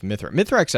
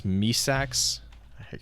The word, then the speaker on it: Mithrax: I think it's Misax. I always mispronounce It this.